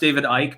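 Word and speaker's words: David Icke: the lizard people thing i realize it's pronounced david ike but i say ich because i say if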